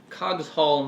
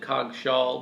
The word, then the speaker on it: Cogshall: I'm here with Courtney today, and we're going to be eating the Cogshall mango. I usually pronounce it Cogshall, but it actually is supposed to be Cogshall.